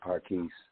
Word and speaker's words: Parkees: Oh, that's how you pronounce his name, is Parkees? Yeah, Parkees. Yeah, I see he's on a couple of your joints.